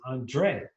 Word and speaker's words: André: I need you to put the accent on the E because it affects the pronunciation. It's Andre.